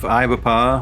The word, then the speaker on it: Ibapah: So we just passed through the town of Ibapah, which has the distinction of being pronounced how it is spelled.